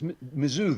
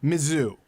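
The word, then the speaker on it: Mizzou: It's Mizoo. They call Mizu. Mizoo.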